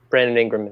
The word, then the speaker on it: Brandon Ingram: fan uh but i do think that uh brandon ingram that's how you pronounce it brandon ingram deserves most improved player